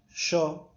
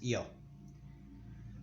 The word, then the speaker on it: yo: And again, in here where I live, we say it sh. The word sho, we say it sho, and in most countries, yo. The word I.